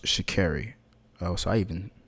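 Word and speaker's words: Sha'Carri: "My family has kept me grounded," Richardson, whose first name is pronounced Shakairi.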